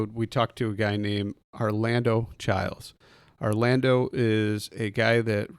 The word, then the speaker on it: Arlando Chiles: right so I'm sitting here and I've got Orlando child on that's your name right that's my name